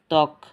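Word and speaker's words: ত্বক: তক জর এখানে বফলার কোন উচ্চারণ নাই দারা স্বামী নতো সয়ব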